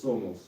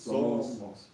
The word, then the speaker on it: somos: De la patria y de los padres somos. Здесь опять же Somos. somos, мы говорим somos, опять ударение смещаем, и tierra.